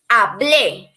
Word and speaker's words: hablé: It's important that when you are pronouncing the verbs, you make this emphasis when you are writing the accent, okay? Hablé, hable. Because if you say hable and you don't write the accent, you are referring to another tense, all right?